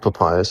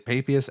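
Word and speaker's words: Papias: Is it pronounced papayas? I would say Papius. It's Papius.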